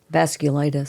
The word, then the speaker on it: vasculitis: clus vas vasus vas glus I think it's pronounced v s c u l i t i s vasculitis thanks according to the National Health Council around